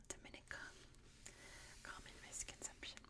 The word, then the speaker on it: Dominica: Sea in the world not mistaken next is Dominica and yes it is pronounced Dominica not Dominica common Mis consumption it's Dominica little known at